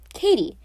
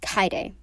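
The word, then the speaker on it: Kaede: is why google helps a lot i've been pronouncing it like katie but it's kaide which is fair anyways about her actual character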